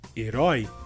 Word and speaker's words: herói: Nesse caso, a diferença de sílaba forte entre português e espanhol nessa palavra seria também porque temos a diferença do acento em uma diferente letra entre português e espanhol. E por essa razão, a sílaba mais forte nessa palavra em espanhol seria a primeira sílaba é, e em português seria a última sílaba roi.